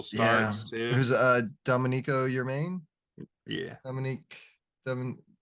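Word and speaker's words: Germán: a half ago but your main right spell German but pronounced your main that's hype um yeah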